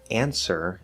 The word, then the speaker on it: answer: For example, answer is a very common word that uses a silent W.